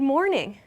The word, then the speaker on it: morning: instead of saying good morning like clearly pronouncing everything we'll often drop good and say morning so there's no g sound there mornin i end on the n sound or just afternoon or